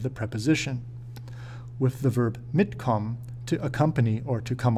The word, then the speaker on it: mitkommen: It is important to know that when pronouncing separable prefix verbs, the prefix will be stressed, mitkommen.